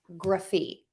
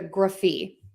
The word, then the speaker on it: -graphy: And we are going to pronounce it gruf-fee, gruf-fee. I'm using that schwa sound, that short, quick sound in there, the gruf-fee.